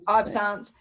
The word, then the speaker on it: absence: astrocytes the last being is it absence is that how you pronounce it yeah it's supposed to be french absence epilepsy so again your